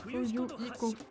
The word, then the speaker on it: Fuyuhiko: Maman, Tony, mon prénom prononce Fuyu Iko.